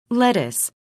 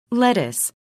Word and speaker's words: lettuce: 아까 사진으로도 많이 봤으니까 레튜스인데 레튜스 리브라고 해야 되고, 그래서 레튜스 쓸 때 스펠링만 좀 조심하세요. T가 두 개예요. lettuce, lettuce, 그 다음에 요 지금 고친 부분을 제가 파란색으로 표시할게요.